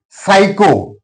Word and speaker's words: psycho: For example, some P is followed by S that's why P is silent. Psycho P is followed by S that's why P is silent.